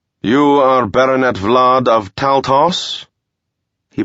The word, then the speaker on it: Taltos: are baronet vlad of taltos he pronounced it taltos instead of taltosh so he must have